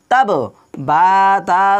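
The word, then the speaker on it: تَبَّتْ: বাটা দুইবার করে উচ্চারণ হবে, কারণ বার উপরে তাসদীদ দেওয়া রয়েছে।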